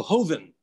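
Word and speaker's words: joven: mezcal of various kinds j-o-v-e-n what does that mean and how do you pronounce it oh hoeven it means young uh so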